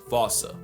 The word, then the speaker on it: Fossa: Anyone who had a childhood like mine would pronounce it the same way I've been doing. But if you follow the Attenborough rule, Sir David would have had you saying Fossa.